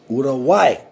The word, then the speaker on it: Uruguay: i kind of uh understand how to properly pronounce things so it's urawai anyway uh thank you all